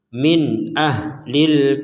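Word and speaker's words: مِنْ أَهْلِ: itu kemudian di sini ada nun sukun bertemu dengan Hamzah maka kita membacanya dengan jelas Min ahlil kitab Min A Min A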